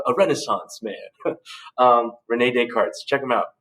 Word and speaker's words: Descartes: dude was a a renaissance man um renee descartes check him out descartes the uh this is silent uh check them out but back to